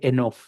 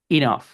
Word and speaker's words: enough: de Esteban no hay mayor misterio, pero pero esta palabra por excepción suena ahí corta, no se dice enough, it's enough con i corta porque sí, lo siento.